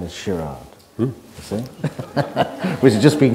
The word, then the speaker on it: Gerard: Gerard's first name is shirad you see we've just been coaching me on which is the proper Dutch pronunciation and there's an interesting